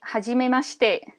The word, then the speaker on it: hajimemashite: Well, that would be hajimemashite.